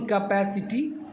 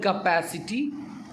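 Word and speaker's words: capacity: यहाँ पे लिखा हुआ साफा, it shows own कैपेसिटी ability and power. एक खुद की कैपेसिटी को दिखलाता है। कैपेसिटी नहीं बोलना है, कैपेसिटी। कैसे बोलेंगे, प्रोनाउंस करें वर्ड को, कैपेसिटी।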